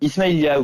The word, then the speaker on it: Ismaïlia: Donc vous l'avez évoqué tout à l'heure, Claude François est né en Égypte le 1er février 1939 à Ismaïlia, je le prononce bien? Ismaïlia, oui.